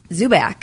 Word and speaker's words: Dzubak: But we also have Dzubak. You got it. Yeah. There's a D in the front, so I don't want to pronounce the D. It's silent.